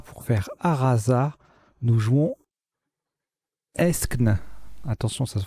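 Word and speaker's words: aeschne: Eskn, ça s'écrit A-E-S-C-H-N-E. Ça forme donc Arasa, l'été et elle et les au pluriel. Eskn, K7, ça fait 89 points.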